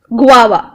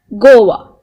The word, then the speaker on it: guava: and tastes sweet and time okay it is pronounced this guava not as Goa okay this one it starts with l y